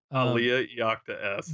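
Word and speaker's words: Alea Iacta Est: Aliyah Iacta S.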